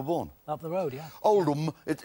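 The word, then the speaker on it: Oldham: Oldm. It It's not It's pronounced old, but it's actually spelled old ham.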